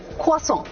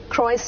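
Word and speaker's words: croissant: आई am having a क्वास ओ माय गॉड मतलब फिर तो लोग कहेंगे यार यह तो बड़ा ही लेकिन मुश्किल है क्वास र की आवाज नहीं है क्रस नहीं है क्वास small round very soft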